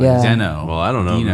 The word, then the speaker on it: Deno: Deno. Well, I don't know. Dino. I mean, how do you say that? Deno, Dino, whatever It's else. Dino. The author has said it's Dino.